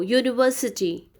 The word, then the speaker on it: university: Though university starts with U vowel, but it sounds yo, or you read it as yo, university.